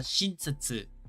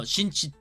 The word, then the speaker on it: 寝室: And that's shinsetsu. No, shinshitsu.